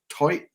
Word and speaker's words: toit: I think they're South African of the toit. I'm gonna say it. It sounds ridiculous. Toit knot. That's how they say it.